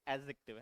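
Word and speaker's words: adjective: बेटा एडजेक्टिव है यह इसमें डी सानता है ना एडजेक्टिव नहीं बोलते एडजेक्टिव है ना डी साइलेंट रखते हैं ए और जे के बीच में जब डी आता है साइलेंट रहता है एडजेक्टिव ठीक है इंडस्ट्रियस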